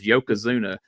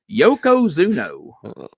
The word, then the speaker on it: Yokozuna: right on the screen Dave Brown pronounced his Yokozuna Yoko zuno here's a o on the end of it I don't know